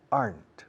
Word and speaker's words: aren't: Contracción de are not. Aren't. Una sola sílaba, por cierto.